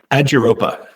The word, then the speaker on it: Aduropa: Aduropa. All right. It's that easy. Okay. So, it is almost as it's written.